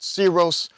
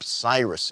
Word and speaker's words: Cyrus: The Greeks called him Kyros, which the Romans then pronounced Syros, before finally ending up Cyrus in English.